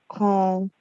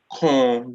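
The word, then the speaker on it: kɔn: The word between the K and the N is very good. It's O.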